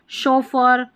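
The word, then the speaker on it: chauffeur: अब जैसे ये शेफ, शेफ की स्पेलिंग है ना, ये हमारे काम आने वाली है। शिफॉन हो गया, शोफर, ठीक है, शोफर के बाद में यहाँ पर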